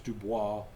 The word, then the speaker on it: DuBose: name of Louis Wellborn Dubose or Dubois. If you want to sound French, it's Dubois.